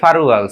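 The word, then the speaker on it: 팔월: 7 মাস, ফাল উয়াল, তো এটা কি হবে ফারুয়াল, সিল উয়ালে কি হবে সিরুয়াল, ফালুয়ালে কি 8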